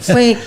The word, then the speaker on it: fake: Jadi ee ini tapi hati-hati kalau nanti pronunciation orang Indonesia jadi fix gitu. Fake ya apa ya?